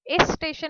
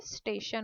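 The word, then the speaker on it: station: तो इस स्टेशन नहीं होता है, करेक्ट प्रोनाउंसिएशन क्या होता है, स्टेशन होता है।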